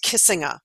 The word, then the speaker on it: Kissinger: was a German man his name is Henry Kissinger and in German it's pronounced kissing uh and that came from a town in Germany